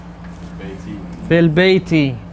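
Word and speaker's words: في البيتِ: And then we said as we read, we skip the alif. And you're going to also skip this.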